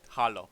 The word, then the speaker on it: Halo: more like quake and halo you know in my country just pronounce it hollow so yeah so yeah